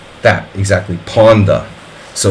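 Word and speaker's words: Pawnda: more like that exactly Ponda so it's Ponda ah like a hard a sound so it's like a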